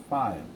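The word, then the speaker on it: phi: symbol of file so this one you pronounce us file okay file the small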